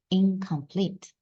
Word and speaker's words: incomplete: 그래서 같은 영국의 소리인 응 소리가 들어갔어요. 그래서 incomplete. 발음해보시면 잉하고 응 소리가 나죠. 응 소리, incomplete 이런 식으로.